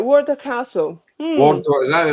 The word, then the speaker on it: Wardour: about was what I'm going to get his name wrong. The Wardour Castle. Right, yes. Right, Wardour Castle. Wardour, is that right?